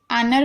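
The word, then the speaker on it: honour: आनर में देख रहे हैं, एच को नहीं पढ़ रहे।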